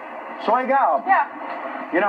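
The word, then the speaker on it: 水饺: In Chinese, we call it soy gao. Soy gao.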